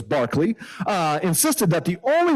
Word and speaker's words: Berkeley: Barkley the Irish philosopher after whom the Berkeley is named I don't know why they pronounce it differently but it's his name is Barkley uh insisted that the